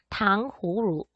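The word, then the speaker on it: 糖葫芦: 그래서 얘는요 중국어 발음으로 하게 되면 당호루 라고 해가지고 이성 경성으로 발음을 하게 되는데요.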